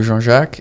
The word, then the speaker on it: Jean-Jacques: So that's the Afrikaans way of pronouncing that. So it's a French name essentially. So Jean-Jacques is how you would say it in one go.